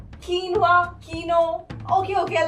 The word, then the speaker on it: quinoa: कीनोवा, क्यूनोवा, कीनवा, Keanu. Okay okay, let me tell you, इसकी सही pronunciation है कीनवा।